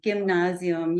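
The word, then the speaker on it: Gymnasium: question for word oh gimnasium it's a hard G gimnasium yeah they're the the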